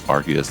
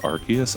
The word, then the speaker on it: Arceus: uh pokemon legends rcs arceus i say rcs i'm sorry i don't like the hard c let's go over here